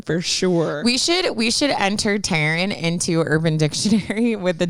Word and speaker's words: Taryn: There's definitely an R in there. Taryn. Well, and I always like say it like Taryn. Like I try to like say it clearly. Taryn. Because I always get Karen or Aaron, but Tan.